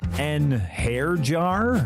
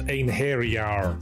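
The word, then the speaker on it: Einherjar: An hair jar? It's pronounced ein hairyar.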